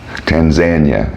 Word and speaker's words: Tanzania: weeks almost 2 months on Safari in Tanzania Tanzania as the locals say it we were in the seretti we